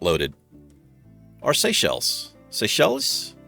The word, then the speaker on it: Seychelles: Our Seychelles. Seychelles? I think it's Seychelles. That's how you pronounce it? Like seashells.